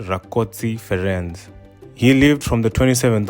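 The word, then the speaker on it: Rákóczi Ferenc: building in kosovo which is the statue of francis ricotsi ii and in hungarian it's pronounced rakotsi ferenz he lived from the 27th of march 1676 to the 8th of april 1735.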